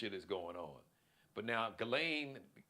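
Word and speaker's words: Ghislaine: But now Galain, her name is Gileain. I've heard, you know, so many different pron pronunciations, but I believe Galain or Gileain Maxwell, she basically was the recruiter.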